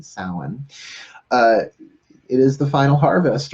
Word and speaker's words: Samhain: interestingly enough salmon Halloween I call its Alan si ma chyann but it's south spell that's how it's spelled how it sounds is like s o w e'en salen it is the final